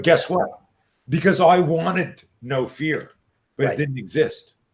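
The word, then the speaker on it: Know Fear: favorite lines from the no fear seminar fyi gang no fear is spelled k-n-o-w not like the adrenaline company no fear no which is a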